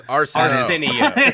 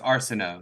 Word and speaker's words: Arceneaux: Damn, such a great intro to mispronounce my last name. It's Arceneaux. Yeah. Arceneaux Hall. It is. That's closer, actually. It's Arceneaux. You were close. Arceneaux.